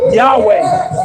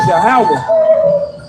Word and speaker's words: Yahawah: If you look on your phone though, the PaleoHebrew characters, you literally cannot get the pronunciation Yahweh. But what you can get is Yahawah.